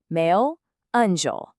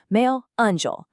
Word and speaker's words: meu anjo: The phonetics for this one are meu anjo. I specifically want you to emphasize that smooth anjo sound right at the end. It just has this incredibly soft, romantic vibration to it.